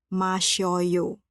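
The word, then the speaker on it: 마셔요: Bunyi dan huruf 'si' dan 'o' digabungkan menjadi "syo". Oleh karena itu, bentuk informal “masida” adalah “masyoyo”.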